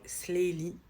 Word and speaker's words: Sleylee: énormément de messages donc elle s'appelle slyie Sley de King Sley etie de Liry donc on voulait vraiment